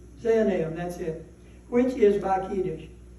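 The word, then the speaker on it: Zaanaim: look that up and don't remember how to pronounce it zanam zanam that's it which is bish and they showed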